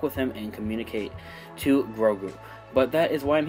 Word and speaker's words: Grogu: baby yoda or as i should now call gagaroo or grogu sorry i'm still pronouncing it and uh learning how to pronounce